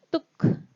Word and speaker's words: took: Dan yang terakhir, yang mirip pengucapannya dengan to, itu seperti u, itu ada kata took, mengambil.